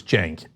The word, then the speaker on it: Cenk: And the C is pronounced like a J in my case, so it's Cenk.